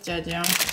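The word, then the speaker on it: 짜장: Because this is jajang.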